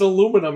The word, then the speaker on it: aluminum: It's aluminum here, but it's aluminium over there.